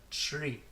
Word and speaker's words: three: voice e3 okay and make sure there's no sound or stop between the T and the are blend them together three next mm-hmm in Japanese